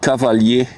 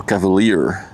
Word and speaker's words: Cavalier: It's the VB Cavalier, or Cavalier, if you're speaking English.